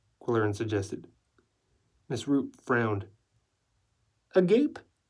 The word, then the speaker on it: agape: Agape? It's a Greek word, pronounced agape.